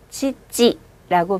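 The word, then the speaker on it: 父: 앞쪽에 붙은 치는 치라고 읽으시지만 뒤에 있는 치자는 치보다는 찌 발음이 좋아요. 그래서 아빠 발음하실 때는 치찌라고 발음합니다.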